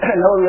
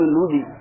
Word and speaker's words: نووی: پنجاب کے پروفیسر صاحب ہیں، بڑے مناظر ہیں، نام نہیں لیتا، وہ جو امام نووی رحمہ اللہ کو کیا کہتے تھے؟ امام نودی.